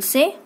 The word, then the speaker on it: ça: So you will say, comment ça va? Comment ça va? This is sa. As I told you, when C takes this sedil, it becomes sa sound.